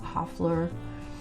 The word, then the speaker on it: Hoefler: pronounce it i think it's called print it's pronounced hoeflers hoffler and it's the font that i use when